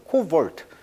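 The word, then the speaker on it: cobalt: 그리고 이제 코볼트, 자, 영어식 발음은 이제 코볼트라고 합니다.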